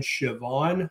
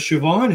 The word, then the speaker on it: Siobhan: I just did a live with my good friend Siobhan Huggins. And Siobhan is not spelled like it sounds. If you're not Scottish or Irish, you wouldn't know that.